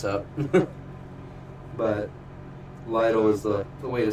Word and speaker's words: Lytle: My last name is pronounced Lytle. L-Y-T-L-E. I mean, y'all obviously see it because I'm doing the video. But a lot of people just say Little, and it's just like, yep, that's me. What's up?